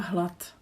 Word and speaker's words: hlad: Like the previous one with rád, for example, hlad is the same thing. So it's d at the end. We are too lazy, so we don't say d, we say d.